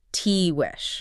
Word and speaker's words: Tiguex: That's spelled t i g u e x, but pronounced Tihuex.